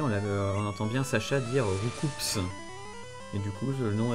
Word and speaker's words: Roucoups: Hop, Roucoups. Roucoups qui devrait s'appeler Roucou en fait, pas, on devrait pas prononcer le S.